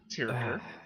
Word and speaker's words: Tirker: So, Tirker, or I should actually pronounce her name correctly, Tirker. Someday I will get it right.